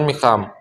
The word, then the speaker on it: میخواهد: جو ہا ہے وہ درمیان میں، اس کو ہم تلفظ نہیں کرتے. کیسے؟ جیسے کہ میخواهد کو کیا بولتے ہیں؟ میخواهد. او میخواهد، چه میخواهد؟ من میخوام.